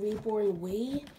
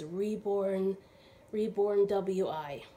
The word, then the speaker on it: Reborn WI: So I was mispronouncing the name of the nursery. This came, I was saying Reborn Wee. It's W-I, and the baby came from Wisconsin. So I realized today it's Reborn W-I. It's not pronounced Wee.